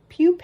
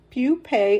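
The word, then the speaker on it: pupae: p AE I did not know that word pupe it's pronounced I had to look up the pronunciation pupe of moth caterpillars which is a favorite food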